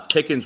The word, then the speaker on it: Pickens: people forget that uh pickens rhymes with higgins so it's hard not